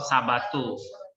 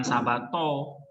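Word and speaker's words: σαββάτου: Nesteuo dis tu sabatu. Ini apa nih? Diftong, bacanya u ya. Bukan sabato, sabatu.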